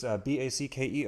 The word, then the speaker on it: Backer: So it's Backer, just the way it sounds, at least my pronunciation.